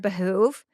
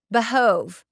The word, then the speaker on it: behoove: Did Giles just mispronounce the word behoove? He says it behove.